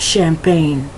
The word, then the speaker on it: champagne: Champagne. Not champagne. I can't even say it very well. Not champagne, as if it's with the CH. That CH has a more of an SH sound, so it's champagne.